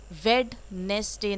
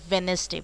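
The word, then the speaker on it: Wednesday: उसके बाद वेनेसडे, वेडनेसडे नहीं बोला जाता है, वेनेसडे बोला जाता है, यानी कि बुधवार.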